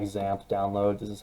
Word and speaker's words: XAMPP: to go ahead and just type in like zamp download this is how you spell it x-a-m-p-p uh download uh once you get